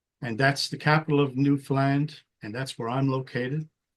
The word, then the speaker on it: Newfoundland: And if you ever wonder how you say it, I'll give you a 2-word rhyme. Understand Newfoundland. And that's it. That's how you say Newfoundland.